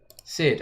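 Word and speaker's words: Syd: with the help of, I can't pronounce that name, Snide, S-Y-D. Sid.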